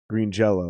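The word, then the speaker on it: Green Jellÿ: in green jelly jello green jello they never changed it to jelly they just put the the y with the asterix over it that that's pronounced oh oh is it yeah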